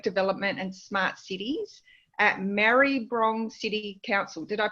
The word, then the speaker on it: Maribyrnong: We've got Zoe, Coordinator of Economic Development and Smart Cities at Maribyrnong City Council. Did I pronounce that right? Maribyrnong. It's a Maribyrnong.